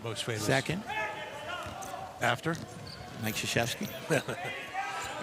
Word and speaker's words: Krzyzewski: Bob Knight used to refer to Mike Krzyzewski as Mike Krzyzewski. And I would say to him, you know it's pronounced Krzyzewski.